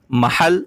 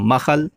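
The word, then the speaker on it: محل: অর্থ হচ্ছে কি দোকান তা আঞ্চলিক ভাষায় মাখাহাল এটা খও উচ্চারণ করে আবার হা দিয়ে উচ্চারণ করে মাহাল বা মাখাল কিন্তু বিশুদ্ধ এরাবিকের মধ্যে হবে মিম হালাম মাহাল দোকান আর মার্কেট বুঝানোর জন্য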